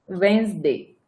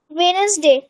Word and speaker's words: Wednesday: वेन्सडे. वेनसडे. WEDNESDAY. वेनसडे. वेनसडे नसते बेटा, ते वेन्सडे असते.